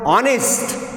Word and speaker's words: honest: In the word honest, the spelling is HONEST, here H is silent.